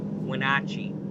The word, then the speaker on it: Wenatchee: I went to Google and I'm like, how do you pronounce it? And it was like Wenatchee.